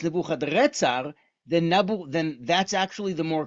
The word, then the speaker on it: Nebuchadrezzar: is how you say his name: Nabuchuduri Usur, Nebuchadrezzar, Nabuchuduri Usur. So if his name is Nebuchadnezzar, but it's actually in Akkadian, it's Nebuchadrezzar, then that's actually the more correct pronunciation.